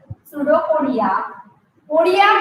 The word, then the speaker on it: pseudopodia: many pseudopodias, and pseudopodias, the spelling of pseudopodia it starts from P. P is silent here. Pseudopodia. Podia means in Latin word, podia means legs.